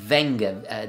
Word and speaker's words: Wenger: And in 2005, they actually bought their biggest rival, which was, I think it's pronounced Wenger, W-E-N-G-E-R.